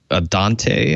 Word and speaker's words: Adante: He had a new speaker line Adante, I believe it's pronounced. Adante, yes.